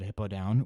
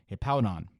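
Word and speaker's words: Hippowdon: to the realization that i have been mispronouncing this pokemon's name my entire life i've always called that hippo down when in actuality it is hippodon so there's that score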